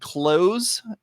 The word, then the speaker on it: Cloze: so I'm using I'm using this tool called clothes and it's spelled CLO ze okay and clothes calm and